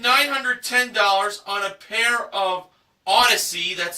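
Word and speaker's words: Audeze: She bid $910 on a pair of Odyssey, that's spelled A-U-D-E-Z-E, handcrafted magnetic headphones with luxury case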